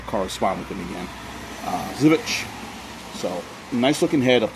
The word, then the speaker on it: Żywiec: Again, I've been pronouncing it Zwick for, so forgive me for the mispronunciation.